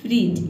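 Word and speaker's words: fridge: आप देख सकते हैं फ्रिज इसमें जो है फ्रिज में डी लेटर साइलेंट रहता है ठीक है जब भी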